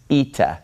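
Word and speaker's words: ήτα: a little bit further this letter is pronounced eita so we have Zita and then we have ITA's eita says and eita makes an e sound this is a vowel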